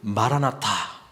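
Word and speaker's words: Maranatha: 오시옵소서 이 고백이 거든요 근데 발음을 어떻게 하느냐에 따라서 말한 아타 이렇게 발음하면 주님께서 오셨습니다 과거가 되고요 마 라 마 타 이렇게 발음하면 주님께서 오시옵소서 이 고백이 되는 거에요 그래서 마라나타 라고 하니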